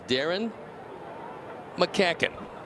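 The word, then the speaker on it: Darren McCaughan: And as you can see, it's Darren McCacken. That's how you pronounce it.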